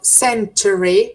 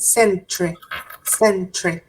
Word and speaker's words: century: And with the pronunciation of century, it's okay that it you can say the three syllables, century. But many people pronounce it sent. The second syllable kind of disappears.